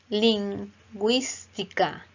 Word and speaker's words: lingüística: Lingüística. Lingüística. Lingüística. Nótese cómo suena la U.